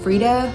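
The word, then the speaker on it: Freida: to get into so Freda I think is how you say her name mcfaden is one of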